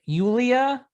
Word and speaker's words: Yulia: finale you beat eulesia how do you say it yulia all right yulia yes dolorenko stoliorenko you must